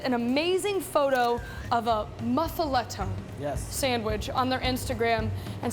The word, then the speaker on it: muffaletta: Muffaletta. You go down to New Orleans and they'll accept that. Yeah. Muffaletta.